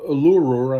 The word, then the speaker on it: Uluru: It was called Uluru, I think is how it's pronounced.